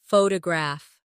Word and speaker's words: photograph: Now photograph. The stress is on the first syllable. Photograph. Good.